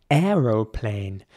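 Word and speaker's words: aeroplane: but in British English you will also hear airplane spelled a-e-r-o-p-l-n-e uh so airplane in British English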